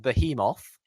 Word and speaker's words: Behemoth: So you've got the American and the Irish pronunciation, as far as I know. I mean, that's how, at least how Dara said it, and that is Behemoth.